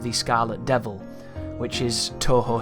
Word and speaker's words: Touhou: which is something that i used to pronounce as to who for some reason because i don't know how to pronounce that word but i have it on good authority most people say touhou and that's what it